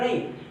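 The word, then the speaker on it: gnaw: जिस शब्द में सबसे पहले जी हो और उस जी के तुरंत बाद आपका एन आ जाए तो जी साइलेंट हो जाता है।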